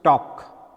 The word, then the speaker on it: talk: is a silent so the word is pronounced talk L is silent the word L is